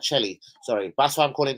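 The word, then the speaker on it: Chely: was one Zach Kelly c-h-e-l-y is it Kelly I'll pronounce that Shelly sorry that's why I'm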